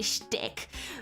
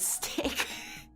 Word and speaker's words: shtick: But she doesn't say shtick. Like in the lyric, it's actually shtick. But she purposefully like mispronounces it as stick.